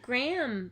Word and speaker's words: Graeme: I said Graham Patterson, and it's spelled Graeme. I was like, I hope it's Graham, because that's how I'm going to pronounce it.